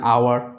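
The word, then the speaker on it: hour: An honest man, অ্যান আওয়ার, এগুলোতে এইচগুলো হ উচ্চারণ হচ্ছে না, ভাওয়েল সাউন্ড আ বা অ দিয়ে শুরু হচ্ছে।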